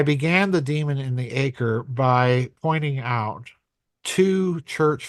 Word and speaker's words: Ekur: It's it's Demon in the Acre, by the way. Um Not Ecker, Acre. Got it. Acre, right. It sounds like it sounds like the English word acre, but it's actually spelled e k u r.